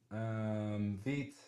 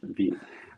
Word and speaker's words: Vite: it is Veet. Wow. Veet like feet.